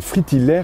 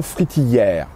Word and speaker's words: fritillaire: rouge pour certaines variétés on doit prononcer fritillire et non fritillère et c'est bien un